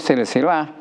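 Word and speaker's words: سلسلة: Nah, contohnya diak tadi ada silsilatul hadid atau rantai itu bacanya kalau ini silsilah bukan salah-salah tapi kalau masdarnya adalah salah-salah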